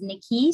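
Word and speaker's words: Nicci: My name is Nicole, better known as Nikki, spelled N-I-C-C-I, pronounced N-I-C-K-Y.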